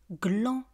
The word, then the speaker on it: gland: Glan. Un gland des glands. Glan. Un gland des glands. On ne prononce pas le définal.